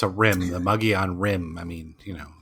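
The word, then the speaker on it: Mogollon: And then we started having to correct people from saying Mongolian instead of Mogian.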